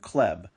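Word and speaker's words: хлеб: Bread in Russian begins with the cerillic X, which is pronounced kh and sounds similar to an H.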